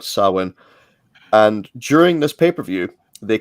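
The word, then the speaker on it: Samhain: NWA sa pay-per-view uh although it's spelled Sam ha but it's um gelic word sawin and during this pay-per-view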